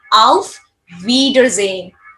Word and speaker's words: auf Wiedersehen: mostly 90% of cases, whenever you get a letter S, you're always going to pronounce as Z, not so. So that's why I have pronounced this word as a auf Wiedersehen.